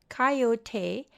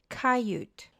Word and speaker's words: coyote: Coyote, pronounced coyote, and in some regions coyote, is a native Mexican